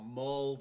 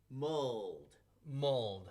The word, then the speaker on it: mulled: Mulled. Mold. Mold じゃなくて mold is you don't want to say mold. You want to say mold. Yes. 発音バッチリ。あ、そうなの？ Mold, not mold. モールじゃダメ？ Mold is a different thing.